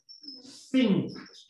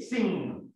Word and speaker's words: sink: Sink. Sink. Sink. No cantar. Cantar con G. Sing. Esto es sink.